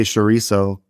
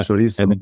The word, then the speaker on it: chorizo: Well, in English, I would say chorizo. Yeah. Chorizo.